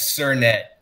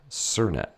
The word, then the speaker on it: Sernett: get it right yeah it's sirnet sir plus net surnet jack cernette yes from